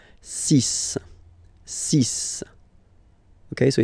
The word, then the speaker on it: six: Be careful Here Because If Ending with x you have pronounce it like s Okay so Get the s pronunciation sis sis Ok so It's Not Six It's sis All Right